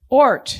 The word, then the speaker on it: Ort: Ort? Ort. Ort. Yes, it's like O-R-T.